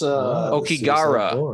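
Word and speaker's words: Aokigahara: Whoa, that's Okigara. That's how you pronounce it.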